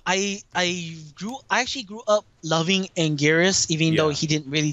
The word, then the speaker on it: Anguirus: But so yeah, it's not technically, if you want to be a snob about it, it's not Angiras, it's not Angilas, but it's Angiras.